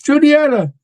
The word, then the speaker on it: Juniata: And I always go, it's Juniata.